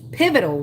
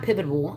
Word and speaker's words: pivotal: be pivotable to these pivotal, not pivotable. I don't know where that extra syllable comes from.